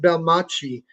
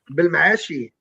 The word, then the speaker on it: Belmaachi: And so that's where the name comes from and it's not really pronounced like that in in Morocco, but I pronounce it Belmacci cuz it rhymes with Versace.